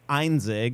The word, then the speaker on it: Einzig: it right on like there's a rule with German last names you pronounce the second letter if it's an e and an I then it's einzig if it was I and then e it' be enig right so I think that's